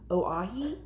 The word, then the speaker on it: Oahe: Oahe.